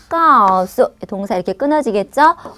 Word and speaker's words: 告诉: 까오수, 까오수. 자, 발음을 써드리면 이렇게 써드리면 되는데요.